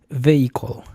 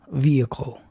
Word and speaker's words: vehicle: Entonces, esta palabra no es vehicle, es vi. Vi e después de viene la shua. Vi vehicle vehicle.